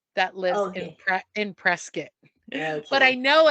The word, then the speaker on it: Prescott: she has family that lives in PR in Prescot but I know it's presc instead of Prescott I know but come on why remember when